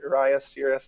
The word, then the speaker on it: Urias: there with Logan Webb and I think Julio Urias, is that how you pronounce it? Mm-hmm. Urias.